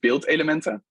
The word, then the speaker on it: beeldelementen: It's pronounced beeldelementen, and I like to give difficult Dutch names to my project.